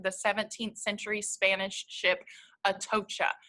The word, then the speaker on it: Atocha: 17th century Spanish ship at OSHA a love that we have that phonetic spelling there so I'm pronouncing this Spanish word correctly before locating it in